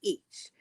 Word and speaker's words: ic: to be in Anglo-Saxon, it used to be ich. I see, pronounced almost as it is in German today.